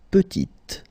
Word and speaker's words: petit: Il est petit, elle est petite. Okay, exactly the same idea. Final T is not pronounced, and then when you add this E at the end, you get the sound T, T, petite.